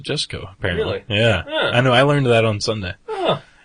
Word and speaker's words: Jusko: He pronounces it Jusko, apparently.